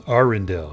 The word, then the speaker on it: Arundel: the small Mountain Community it's Arendell I was saying it wrong and I'll probably forget and pronounce it incorrectly in the future uh you are Aaron